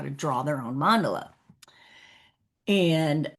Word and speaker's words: mandala: Although I will tell you most people say mandela or mandela. Yeah, mandelola is the correct way which I was taught. It's a Sanskrit word and in Sanskrit a three syllable word the first syllable is always annunciated.